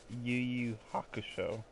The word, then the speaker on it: Yu Yu Hakusho: Also, it's pronounced Yu Yu Hakusho.